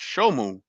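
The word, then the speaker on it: Shemu: from October 21st to February 21st, and summer, pronounced Shomu, which lasted from February 21st to June 21st.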